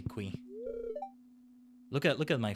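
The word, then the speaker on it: Qi: me someday Mr que this may pronounced key but it sounds easier to say que look at look at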